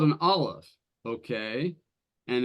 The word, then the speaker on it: Aleph: Well, it's called an Aleph. Okay, and it's pronounced like the first letter of the word for ox. The first letter of the word Aleph, which is that glottal stop.